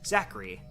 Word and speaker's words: Zachary: What I normally say is Zachary, like Zach and then Ree, as opposed to Zach R. Ree, which is just interesting